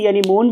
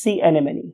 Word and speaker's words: sea anemone: Right, बहुत से लोग इसे sea anemone भी कहते हैं. ये this is a wrong pronunciation. True pronunciation is sea anemone.